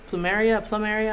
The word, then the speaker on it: plumeria: I believe they're plumeria flower. Plumeria? I'm not sure how you pronounce.